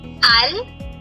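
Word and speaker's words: Allemagne: J is silent. The sound is near. So Germany is called alman. Almon.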